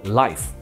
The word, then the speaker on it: LYF: LYF 呢就念作 Life，顾名思义就是要创造一种生活感。